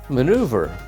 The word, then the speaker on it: manoeuvre: It's a French word we use in English, but we say it differently.